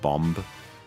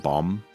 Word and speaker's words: bomb: five years that that you don't pronounce the B in bomb. And there was one time where I heard him saying bomb. And I was like, do you realize it's not bomb?